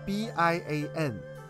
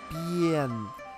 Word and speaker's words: bian: So for example, B-I-A-N, B-N. It's not Bian, it's B-N. So it's a B plus Yen, as in Japanese currency.